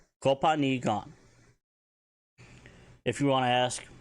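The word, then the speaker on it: copaani gaan: That is spelled C-O-P-A-A-N-I space G-A-A-N. Kopani gan.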